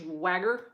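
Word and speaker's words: Schwager: was the'80s he's updated it um Jack SW Swagger is how you say his name it's it's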